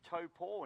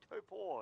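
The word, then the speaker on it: Taupō: Pronounced Taupo now, Lake Taupo. They've changed it last time when I was there 3 months ago. So Taupo it is these days.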